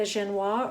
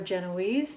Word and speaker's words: genoise: your cake pan lining for the genoise or genoise depending on how you like to pronounce it this chocolate genoise is